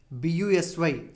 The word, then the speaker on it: busy: Then next, B-U-S-Y. Third line, B-U-S-Y. S is there, but still it sounds like Z.